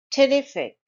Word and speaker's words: terrific: Terrific, terrific. It's a three-syllable word and stress is on the second syllable.